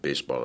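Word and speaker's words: béisbol: on baseball you know not baseball but basball is how they say it um you know across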